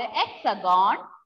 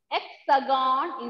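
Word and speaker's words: Hexagone: having a nickname called hexagon hexagon is the nickname of france hexagon h will be silent h will be silent since h is at the beginning of this word since h is at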